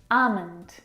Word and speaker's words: almond: very comfortable this afternoon almond now in this word the L is silent it's not almond or